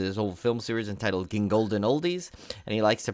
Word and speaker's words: Gingold: Of course, he's hosted his whole film series entitled Gingolden Oldies, and he likes to pronounce his now with a British accent when he introduces himself to new people.